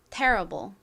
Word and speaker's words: terrible: 발음해 볼까요? terrible 한번 해 볼게요.이 태의 강세가 있습니다. terrible 좋습니다.